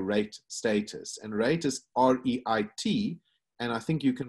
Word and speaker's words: REIT: Yeah, it's called a REIT, is how they pronounce it.